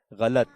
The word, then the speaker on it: غلط: ٹھیک ہے، یہ اصل میں غلط ہے، لام کی زبر کے ساتھ ہے، غلط.